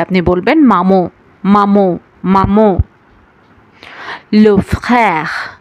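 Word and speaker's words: frère: লো ফ্রère, লো ফ্রère, লো ফ্রère, লো ফ্রère মানে হচ্ছে ভাই। দর্শক, ফ আর খ এই দুইটার মাঝামাঝি একটা উচ্চারণ হবে, লো ফ্রère।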